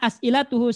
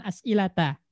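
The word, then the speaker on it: أسئلةُ: Maka bacanya itu as'ilatu bukan as'ilata.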